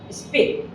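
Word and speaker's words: speak: তার নিয়মটা কি, এস এর পরে যদি পি আসে তাহলে এটা অ্যাসপিরেটেড হবে না, হবে স্পিক, স্পাই।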